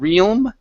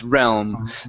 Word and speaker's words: realm: So adding on that that apostrophe S, as well as the pronunciation here of realm. Okay, so instead of realm, it's realm.